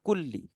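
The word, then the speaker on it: كل: Fi kulli di Quran kalau semisal ada Fi kemudian kulli itu pasti bacanya kulli kulli karena apa Karena ada harfu Jar harfu Jar Itu apa huruf atau kata hubung yang menyebabkan huru apa kata setelahnya itu berharakat kasrah sama dengan kulli makanya setelah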